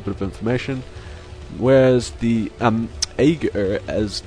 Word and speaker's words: Aeghrur: Aeghrur. Okay, that's going to be the pronunciation for the cast.